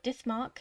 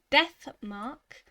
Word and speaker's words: Death Mark: in the last episode i pronounced it dismark and looking back at the recordings it makes me laugh every time but death mark is and in the